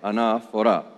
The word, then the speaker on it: anaphora: let's look at the word itself what does anaphora mean by the way it's spelled in English ene pH o ra enough hora linguistically of course it's a Greek word it